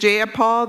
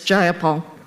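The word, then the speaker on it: Jayapal: you agree with Miss ja Paul that there was no takeover was just if you're going to say my name please say it right it's jaia Paul Gia Paul do you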